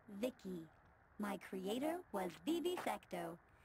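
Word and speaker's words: Vici: dreams by the way I'm v-i-c-i pronounced Vicky my Creator was Bibi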